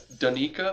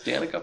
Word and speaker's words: Danica: guy would say her pronounce her name as Dena Patrick oh but I'm like I've only ever heard her name from like South Park so I know it as Danica Patrick uh but her car